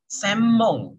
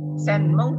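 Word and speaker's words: 専門: Kalau N ketemu sama M, jadi yang bacanya jadi M. Jadi semong ya. Semong. Jadi bukan senmong tapi semong ya.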